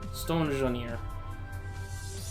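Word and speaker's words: Stonjourner: Stone Junior. And yes, I know I pronounce it weird.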